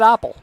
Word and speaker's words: Appl: APPL pronounces it Apple.